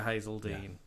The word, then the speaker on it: Hazeldine: Joel says it is Hazeldine, just like the singer Hazeldine.